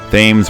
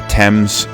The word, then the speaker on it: Thames: another cool environment here the um themes or thames whatever you want to call it different pronunciations for different cultures again oh this